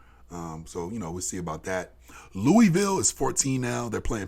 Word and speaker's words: Louisville: way the fuck up in Louisville, or how they say it, Louisville.